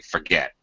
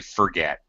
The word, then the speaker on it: forget: Sometimes we don't even really pronounce the R, which is what Nader did, actually, forget. Or it's very underpronounced. Sometimes we say forget. I forget a lot. Sure. Either way, it's the schwa sound or schwa R.